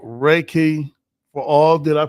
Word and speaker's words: Reiki: And it's called Reiki for all. Did I pronounce that right?